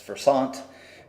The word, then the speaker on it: Versant: technology very well uh if you happen to be from France you tend to pronounce it as Versant and the rest of the world pronounces it as person